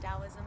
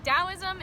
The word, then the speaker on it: Taoism: I've heard it before I know it's spelled with a t instead of a d which is kind of funny CU it sounds like you know T's usually don't sound like D's no idea what DSM